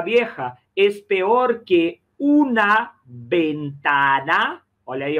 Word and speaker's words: ventana: Una puerta vieja es peor que una ventana. Olha aí, ó. Ventana. Olha o esforço para não nasalizar a letra E nem a letra A.